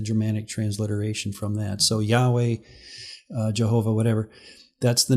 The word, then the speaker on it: Yahweh: as he's sometimes called is named yhwh we pronounce it Yahweh Jehovah actually is a dramatic transliteration from that so Yahweh uh Jehovah whatever that's the name that this